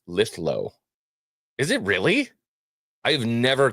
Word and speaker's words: Lithgow: Wizard man for two says, "Guys, Lithgow is pronounced Lithlo."